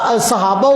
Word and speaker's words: صحابہ: بلکہ آپ اس کی تقریریں سن لو، تقریباً اکثر تقریروں میں یہ صحابہ کو کیا پڑھتا ہے؟ صحابہ۔ یہ لفظ کیا ہے؟ صحابہ۔ صاد کے اوپر فتح ہے، صاد کے نیچے زیر ہے۔ جس کو یہ نہیں